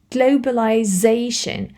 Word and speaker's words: globalization: This apostrophe means you need to place the stress, the accent on this syllable. So, globalization, you need to stress this zation. Because in English, when a word ends with yon, you need to stress this syllable.